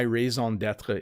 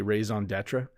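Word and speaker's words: raison d'être: say things like my raison d'etre is and people don't pronounce it the way i do they say raison d'etre so they they kind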